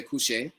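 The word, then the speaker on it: kushe: to say it so some people say cush K sh e it's kind of well it's not really an e but you know we say k SS sh he um so cush is how you say it I have an American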